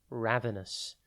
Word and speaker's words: ravenous: time today's word is ravenous it is pronounced ravus and it is spelled r a v e n o u s think Raven and then us ravenous means extremely hungry